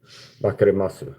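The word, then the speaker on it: 分かります: Now if there's a word that ends with a u, they don't pronounce it, okay. You see, so it's like wakarimasu or something like this. Wakarimasu, they say wakarimasu, even though they say u at the end of it, I'm pretty sure.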